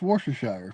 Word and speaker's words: Worcestershire: You know the one I can't understand why Americans cannot pronunciate Worcestershire sauce, right? It's Worcestershire from the town of Worcestershire, right?